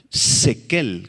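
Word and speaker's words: שכל: subrayen la palabra sagacidad es la palabra hebrea sequel con acento en la primera e y K zequel esta palabra se relaciona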